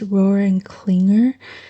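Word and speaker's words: Rohrer & Klingner: the next brand is I believe pronounced Roar and Clinger it's a German brand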